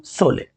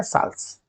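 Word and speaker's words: Sholes: Christopher Latham सोले, आप इसको सोले पढ़ सकते हो, लेकिन इसका सही प्रोनाउंसिएशन है साल्स।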